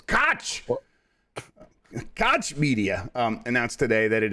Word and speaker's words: Koch Media: minardi at gamesby uh koch media is actually how i think you're supposed to say it but you're supposed to say it with a german uh accent so it's koch koch media um announced today that